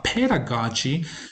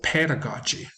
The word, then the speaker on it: pedagogy: communicatively cooperatively collaboratively uh pedagogy is a word that gets mispronounced in terms of stress allocation the stress or the